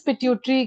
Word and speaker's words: pituitary: Ma'am, how do you pronounce the second example of ductless glands? Pituitary gland. Pituitary.